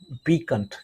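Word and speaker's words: piquant: पीकंट क्या होता है प्रोनाउंसिएशन? पीकंट, राइट।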